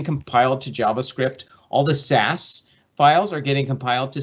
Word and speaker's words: SCSS: of the theme dot theme dot sas scss pronounced sas and in here you'll see all of the